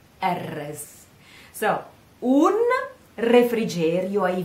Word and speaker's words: refrigerio: Un refrigerio ai venti.